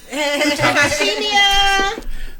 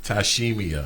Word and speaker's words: Tyshemia: Tyshemia. Tyshemia. Yes. See, I got it. Give See, me I got all it. 8 letters and Yes. 4 syllables. That's Tyshemia.